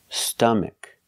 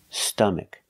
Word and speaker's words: stomach: it's not an a it's a short sound uh like cup and up and cut uh St St stomach stomach put the stress on the first syllable stomach stomach a closed sound